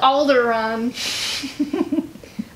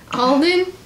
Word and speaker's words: Alden: in the upcoming Hans you said alderon Alden not alderon Al AR either way he's